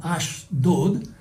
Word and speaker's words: Ashdod: En el hebreo, aquí hay un juego de palabras entre Asdod y que en hebreo se pronuncia como Ashdod, y la palabra que